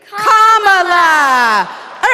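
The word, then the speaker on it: Kamala: do you pronounce it first is say comma like a comma sentence then you say la like la la la la la put it together and it's 1 2 3 comma all right so let's practice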